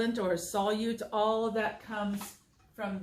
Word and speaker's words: solute: everywhere dog age because that is probably the most mispronounced word in my eighth grade science classes solute solute and I even had a sub once the first time we went out with the first time we did this I had a sub and the sub pronounced it solid and it was awful